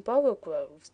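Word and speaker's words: borogoves: rhyme with Groves again the first o in borrow Groves is pronounced like the O in borrow so I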